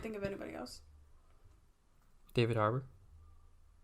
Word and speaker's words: Harbour: You're saying Arbor, but it's Harbour.